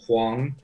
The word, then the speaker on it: Huang: It means big yellow, Huang. So in Chinese, that's how you say it.